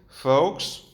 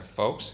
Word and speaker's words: faux: Faux, que no se pronuncia faux, se pronuncia faux, falso.